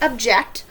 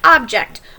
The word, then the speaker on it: object: is an interesting object notice I pronounced them different this is object this is object but they're spelled the